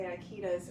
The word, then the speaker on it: Ikeda: A lot of people will say Ikeda's. When I say Ikeda, I mean Ikeda. That's the correct pronunciation.